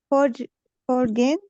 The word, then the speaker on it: foreign: Have you ever lived in a foreign country? Foreign. The G is silent.